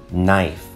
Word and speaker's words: knife: 28, knife or navy. Notice now, knife starts with a K, but the K is silent.